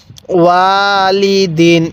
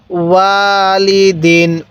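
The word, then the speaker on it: وَالِدٍ: কিভাবে শিখবো ওয়ালিদিন হ্যাঁ আমার সাথে আরেকবার পড়বেন ওয়ালিদিন আরেকবার হ্যাঁ ওয়ালিদিন এরপরে বলবেন এই হরফ গুলোর উচ্চারণ কিভাবে পড়তে হবে অবশ্যই আপনি আমার সাথে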